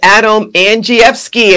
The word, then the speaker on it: Andrzejewski: Folks, it's Adam Andrzejewski, and I get an A for pronouncing your name correctly.